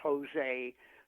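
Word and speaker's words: José: I tell people if it's Jose spelled with a J, it actually sounds an H, and H is a flesh spectrum spiritual.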